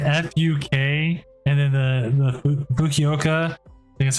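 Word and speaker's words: Fukuoka: with the Giant fuk and then the the fukoka that's how you say it airport Japan underneath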